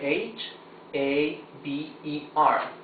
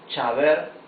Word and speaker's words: haber: we can see that it begins with letter H. Letter H, A, B, E, R. However, when we read it, we say haber, right? We don't say chaber or haber.